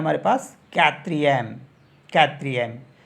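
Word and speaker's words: quatrième: हो जागा यह हो जाता है हमारे पास कत्र एम कत्र एम तो कत्र को बोलते हैं फोर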